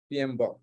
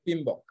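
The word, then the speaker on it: PMBOK: text সেটার নাম হচ্ছে পিএম বক project management body of knowledge যদিও আমরা পিএম বক বলতেছি আসলে এটা উচ্চারণ করতে বলছে পিএমআই পিম বক পি আই এম বি ও কে পিমবক এটা একটু মনে রাখি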